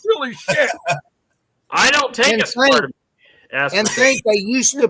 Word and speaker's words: aspartame: And there's no aspartame in it. There's no aspartame, however you want to pronounce it. You know, gummies are usually full of, how is the right way to pronounce that anyway, Brian? Aspartame.